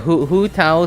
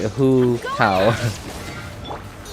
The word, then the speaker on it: Hu Tao: Alright, Hu Tao spelled with a W-H-O. Right, Hu Tao.